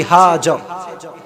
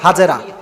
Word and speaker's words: হাজর: সাইয়েদনা ইব্রাহিম আলাইহিস সালামের যে ওয়াইফ, তার নাম হচ্ছে বিবি হাজর। নামটা কি? হাজর। আমরা বলি হাজেরা, না, সঠিক উচ্চারণ হচ্ছে হাজর।